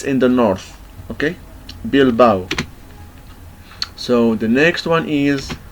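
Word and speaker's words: Bilbao: the next one is here we have ow okay ow so a and o gives give us the sound of ow and we find this in the the word of bilbow bilau bilau is a city in Spain um uh it's in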